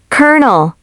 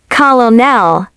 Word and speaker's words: colonel: Word seven, colonel. Now for word no seven, kernel. Even native speakers pause at this one. Incorrect. Colonel. Correct. Colonel. Yes, like popcorn.